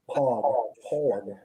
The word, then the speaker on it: POG: That beer would be better if it was spelled Pog, P-A-W-G. Mm-hmm. Pog, you're right, dog. Is that what it's called? Yeah. Pog rhymes with dog. Dog. Pog.